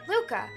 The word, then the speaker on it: Lucca: Is this pronounced Luca or Lucca? I'm assuming Luca. I like leaving regular names. Ruka? That's right, Luca.